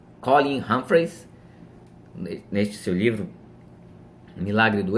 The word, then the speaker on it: Colin Humphreys: Existe um físico chamado Colin Humphreys, acho que a pronúncia certa é essa, Colin Humphreys.